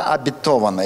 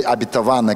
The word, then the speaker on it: обетованная: Хорошо, давайте мы начнем с вами с темы «Земля обетованная» или «обетованная», как еще ставят ударение.